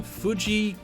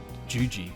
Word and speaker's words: Juji: Fuji Gatame? That's his finisher. Did I say Fuji? I mean Juji.